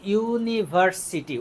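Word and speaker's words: university: তাহলে আমরা এখানে দেখতেছি ইউনিভার্সিটি, উচ্চারণটা খেয়াল করো, ইউনিভার্সিটি।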